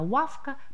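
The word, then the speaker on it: ławka: Здесь разница только в произношении первого звука «ły». По-польски это «лавка», по-русски «лавка». Больше разницы в произношении нет.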